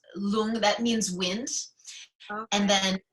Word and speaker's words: lung: L o OMG but we actually write it like lung like Lu ng but it's long that means winds and